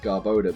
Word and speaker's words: Garbodor: it's name is pronounced Garbo de because it's a portmanteau of garbage and odor and Vaporeon is an